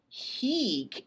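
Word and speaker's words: hīc: So one has a short I and the other has a long I. So make sure your ear keeps those two straight.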